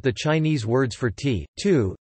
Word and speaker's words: 荼: The Chinese character for tea is cha, originally written with an extra stroke as tu, pronounced tu, used as a word for a bitter herb, and acquired its current form during the Tang Dynasty.